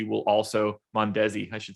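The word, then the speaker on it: Mondesi: perez will be pretty heavily owned i think monday will also mondezi i should say it like that old school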